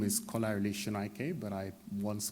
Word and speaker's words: Kolarele Sonaike: defendant not the barrister it could be somebody mispronouncing my name uh my name is kolarili shinaike but i once called up a solicitor who